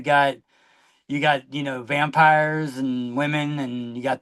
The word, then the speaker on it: Vampyres: Like it's pronounced it's still pronounced vampires, but like you know sometimes Britain just wants to be different.